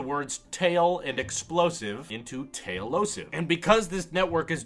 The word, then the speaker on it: Tailosive: Tail, like a cat, and then the last part of explosive, that osive, O-S-I-V-E.